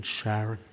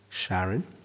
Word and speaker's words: Charon: We write Charon is smaller than the dwarf planets. Sorry, by the way, if anybody's mum is called Sharon. At least it's spelt differently.